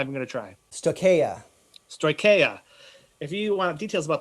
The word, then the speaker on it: Stoicheia: If you want details about the Rebel technology, and Frederick, how do you pronounce it correctly? I'm not even going to try. Stoicheia.